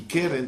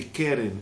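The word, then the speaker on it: קרן: Mas tudo bem, mas voltando aqui, keren também é chamado chifre, e tem um versículo no Teilim que ele vai explorar.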